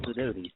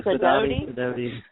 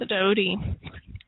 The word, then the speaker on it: Sidoti: And it is pronounced Sidoti, so some people say Sidoti, yeah. Sidoti.